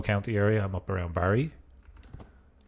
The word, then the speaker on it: Barrie: I'm up around Barrie. or Berry if you're Canadian. That's kind of how they pronounce it.